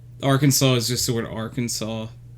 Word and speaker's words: Arkansas: Arkansas is just the word Arkansas. Like the rule of thumb that I would go by It's is pronounced Arkansas, you idiot.